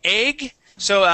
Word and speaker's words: eggs: Egg and eggs with a Z at the end. That S is going to be a voiced S sound.